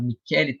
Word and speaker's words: Michele: Há um professor italiano, o professor Michele Tarufo, se escreve Michele, né, mas me fala Michele Tarufo.